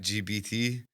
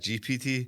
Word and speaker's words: GPT: I seen something saying that the amount of older people that say chat GBT instead of chat GPT.